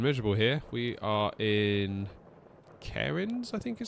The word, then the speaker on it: Cairns: We are in Cairns, I think is how it's pronounced.